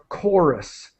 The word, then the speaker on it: chorus: anymore we would and the pronunciation is chorus it's it starts with a k sound chorus okay and so